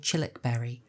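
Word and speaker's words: Childwickbury: into a Country Manor called chilik Berry uh for Americans that is written child Wick bu English pronunciation not always reliable and interestingly chilbury was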